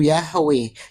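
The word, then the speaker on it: Yahweh: Ada yang bilang, ada yang bilang Yehova Yehua. Yahua. itu Bang Suma hancur sudah ini Bang Suma Bang Suma itu itu bukan pengucapan yang ee kurang tepat yang paling tepat pengucapannya itu Yahwe.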